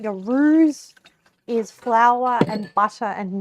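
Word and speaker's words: roux: And I just want it to be like hot enough that it's r without the x. Yes. Um, it's spelled with an X, but I don't think the X is pronounced when people say R.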